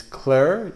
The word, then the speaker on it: Clerc Milon: Again, it's Clerc. The C is silent. It's Clerc Milon. I've always said Clerc Milon, but I think that's incorrect.